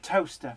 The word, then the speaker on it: Towcester: But in the UK, words aren't necessarily pronounced how they're spelt. Seriously, like toaster, spelt Towcester.